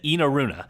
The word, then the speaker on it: Enaruna: He said Enaruna. Now, he so that's kind of a long E.